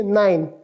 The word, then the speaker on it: nein: नो को, नो का spelling है NEIN, और इसको प्रोनाउंस किस तरह करेंगे, नाइन, या, नाइन, यस, नो, नाइन, या।